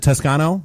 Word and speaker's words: Toscano: uh, we've got, uh, Jim and Danny from Tuscano Media. Am I pronouncing that right? Is it Tusano?